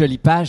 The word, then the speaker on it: Olipage: Oli Page, Oli Page, les deux sont valides.